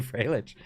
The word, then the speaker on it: Freilich: Is it Freilich? Oh, I would not have gotten that from the spelling, but welcome, welcome, Freilich.